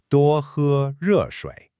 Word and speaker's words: 多喝热水: Let's pronounce that slowly together. 多喝热水.